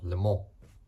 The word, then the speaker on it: Le Mans: Basically, this car has done one of the greatest races of all time, the 24 Hours of Le Mans, or Le Mans. That's how you say it in French.